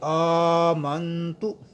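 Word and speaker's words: آمنتُ: ادائیگی کرتے ہیں۔ جی آمنتو، یہاں پہ حمزہ ہے، حمزے کے اوپر کھڑا زبر ہے، اسے ہم لمبا کریں گے ایک الف کی مقدار۔ اس کے بعد نون ساکن ہے، یہاں غنہ ہوگا۔ آمنتو باللہ، یہاں اللہ کا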